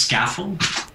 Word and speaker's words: Scaffold: It's pronounced Scaffold. Okay, fantastic. So just like it looks, that helps.